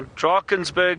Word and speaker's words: Drakensberg: Now, Drakensberg, I'll spell it for you, D-R-A-K-E-N-S, Drakens, and Berg, B-U-R-G, or that's Drakensberg, or B-E-R-G, Drakensberg. It depends if you Afrikaans or English.